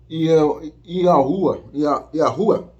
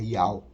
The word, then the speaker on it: Yahweh: quando eu falo Yehoshua, quando eu falo o nome do Criador como Yahuwah, esteja enganado, não é essa a pronúncia certa é Yahweh.